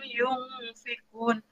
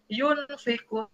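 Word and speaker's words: ينفقون: Ahya wa mimma rozaqnahum yungfikun jadi kita tidak boleh membacanya Iyun karena huruf nun mati ini bertemu dengan salah satu huruf ikhfa ya tidak ada membacanya yunfiqu Kyuhyun sedikit ada si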